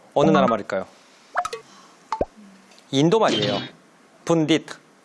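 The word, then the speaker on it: pundit: 분딧 이렇게 발음하니까 아시겠죠?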